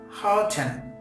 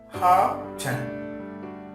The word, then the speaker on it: hearten: And here the letter R will not be pronounced too in British English. But in American English, you can pronounce R in this word lightly, light, like Hearten, Hearten.